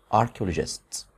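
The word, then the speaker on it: orchestra: بعض كده الاول الكلمات اركست اركست اركست اركست ار ست طبعا حرف السي اتش هنا بنطق ايه حرف كي زي كلمه تكنولوجي برض فيها سي اتش بطه ايه صوت الكي اركست بنك بنك طبعا انت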